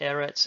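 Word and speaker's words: ארץ: which means fire ER note that erets is stressed on the first syllable is the Hebrew word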